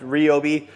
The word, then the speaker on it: Ryobi: I know some of you are going to say it's pronounced Robi. I say Ryobi.